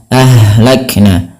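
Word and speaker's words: أهلكنا: Kemudian berfal ahlakna ha yang dia sukun ini sifatnya ada sifat hamesnya ya hamslak. Nah, dan ha di sini juga ada yang kita namakan dengan sifat rakhawah mengalirnya nafas. Ha, ahla ahlakna. Maka ketika melafalkan ha jangan sampai memantul dengan kam ahlakna. Nah, ini ada juga yang begitu. ini maka dia kurang tepat dan salah. Kenapa? Karena ha tidak memiliki sifat pantul.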